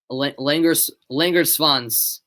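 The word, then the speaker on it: Langerswans: Did I pronounce it right? Langersvans. I know the W is pronounced like a V, right?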